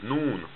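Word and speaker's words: ن: letter after meme is noon and noon it looks like this noon it hangs down like this and it makes the letter n sound now for arabic it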